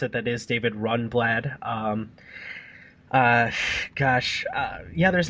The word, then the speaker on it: Rundblad: I guess I did mispronounce it. That is David Rundblad.